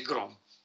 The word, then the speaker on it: Gram: si chiama matrice di grom Eh non ho detto a Patrizio che eh si scrive gram ma si legge Grom come m'ha detto un mio studente che conosceva il Danese a ingegneria si trova